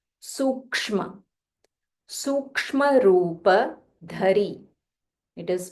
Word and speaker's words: Sukshma: Sukshma, Sukshma. So the second letter, you'll have to join ik and ish together. Sukshma.